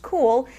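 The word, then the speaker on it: Cuil: turning early adopter off cool spelled cui l and unfortunately pronounced cool launched Sunday night having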